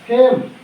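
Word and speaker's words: fame: यह लिखा है FAM, फेम।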